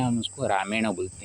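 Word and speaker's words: रामायण: उसको रामयण बोलते हैं राम के साथ इन एक प्रत्यय जुड़ने पर रामन होना चाहिए था लेकिन न का ण क्यों होता है क्योंकि र उच्चारण होने पर न का न हो जाता है उसको न सिद्ध में न का ण होता है तो राम के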